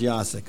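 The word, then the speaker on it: Jacek: ja ja Sakai Asik yacek with the J but pronounced yosik okay do we have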